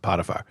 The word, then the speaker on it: Potiphar: It's spelled the same as Potifar. It's just Potifar. That's how they pronounce it, Potifar.